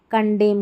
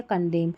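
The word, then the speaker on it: condemn: इसको autumn, कॉलम, सोलम और कंडेम करके पढ़ते हैं। ठीक है? कंडेम। अब यहां पर देखिए एम एन का कॉम्बिनेशन है। एन को हम नहीं पढ़ रहे हैं।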